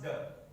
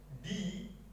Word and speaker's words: the: The has two ways to pronounce. The first, the, and the second, the. A D is read when the noun that follows it is a vowel at the beginning of the word.